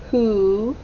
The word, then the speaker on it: who: the h or w it sounds like it starts with an h but it starts with a w very tricky who sold old ah s